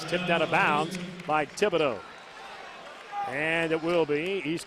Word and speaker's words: Thibodeaux: will side front court darren thibodeau just like thibodeaux louisiana home of southeastern louisiana the way you pronounce his last name t-h-i-b-o-d-e-a-u-x that very cajun name 20 to 15.